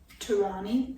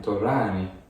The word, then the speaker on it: Torani: And these syrups are Turani. I don't know how to say it. Turani. You I gotta think it's say it supposed like to be an Italian. You gotta say it like an Italian. Torani.